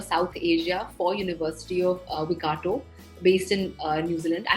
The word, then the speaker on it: Waikato: And you pronounced it right, it's University of Waikato.